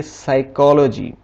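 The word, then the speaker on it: psychology: जैसे यहाँ पे लिखा हुआ है पी एस, यहाँ पे पी के फौरी बाद एस आ गया तो यहाँ पे पी साइलेंट हो जाएगा, इसे हम पढ़ेंगे साइकोलॉजी।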